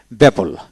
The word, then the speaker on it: babble: এখন আসেন কোন ওয়ার্ডে দুটি বি থাকলে বি এর উচ্চারণ নীরব থাকে, মানে সাইলেন্ট থাকে দুটি বি থাকলে একসাথে। যেমন বেবল, BABBLE বেবল, এখানে এক ডাবল বিতে একটা বি